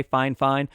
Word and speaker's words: FIFINE: did send it and that is how you pronounce the company's name by the way fine fine in my correspondence with them that's what they